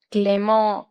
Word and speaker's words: Clément: Clément, le prononcio esa E, oui, Clément y nasal.